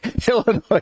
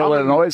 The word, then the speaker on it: Illinois: Illinois Duquesne. A nice little play on the alphabet at the very least. The silent S in both of those names. Unless you're an Illinois guy. Oh, no. They're Illinois in Wisconsin?